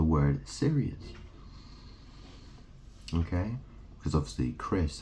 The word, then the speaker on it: Chris: serious okay because obviously Chris has a silent h in it doesn't it so you could just spell it c r i s yeah did Christopher